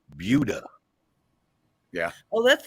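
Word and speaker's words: Buda: south of Austin and don't call it Buddha because they call it budha yeah oh that's like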